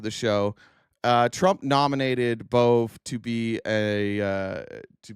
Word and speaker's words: Bove: Uh do you guys remember the name Emil Boove? I think it's it's pronounced Bove.